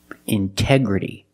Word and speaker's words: integrity: Integrity. The stress is after the NT in these words. So we pronounce the T as a pure T.